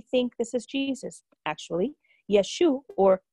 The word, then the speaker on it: Yeshua: Actually, Yeshua or Yeshua is how Jesus' name is pronounced in Hebrew.